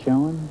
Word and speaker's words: Schoen: Is that the way you pronounce it, Schoen?